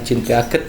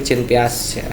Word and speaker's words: Jean Piaget: Saya dikomplain karena ini bacanya bukan Jean Piaget kak, tapi Jean Piaget ya, Jean Piaget ya.